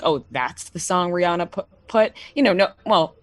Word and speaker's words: Rihanna: just talking about rihanna if you ask rihanna she she says her name's rana no one else says that except for her so it's it's just